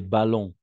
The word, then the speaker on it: ballons: simplement d d'accord des ballons des ballons en effet on ne prononce jamais le S à la fin donc des vallons des